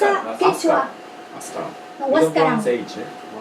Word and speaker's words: Huascarán: We don't pronounce H. Wa? Huascaran. Huascaran. So in the case in Spanish H, doesn't have sound. Like Huáscara, like you, no? Huáscara. H doesn't have sound in Spanish. For that reason is Huáscara. For example, hotel or hospital.